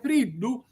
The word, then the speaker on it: friddu: come vi ho spiegato, perché friddu non si pronuncia con la cacuminale.